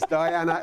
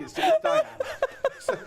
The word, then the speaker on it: Diane: And this here is Diana. It doesn't work. It's Diane.